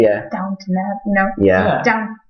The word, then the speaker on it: Downton: Is it Downton. downtown? No, Downton. Downton.